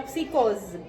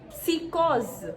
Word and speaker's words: psicose: No caso da palavra psicose, P e S, mas repare que neste encontro cada letra é pronunciada. Psicose, psicose. Nós conseguimos perceber que tem aí um P e um S.